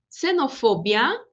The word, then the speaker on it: xenofobia: Xenofobia, o som igual ao do S, neste caso, xenofobia.